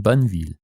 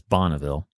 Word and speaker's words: Bonneville: the adventures of captain banville but despite his cool factor the captain who will get a ton of stuff in my home state of utah named after him even if it's mispronounced as bonneville and other american fur